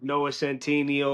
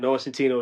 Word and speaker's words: Noah Centineo: out if Noah Centineo or however you say his name, Noah Centineo is the right pick for Ken.